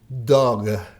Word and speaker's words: dog: Dog, dog. Acá él se está refiriendo a esa última consonante, G. Sound, pronouncing that G sound very Pronunciar ese sonido G fuertemente, que se note.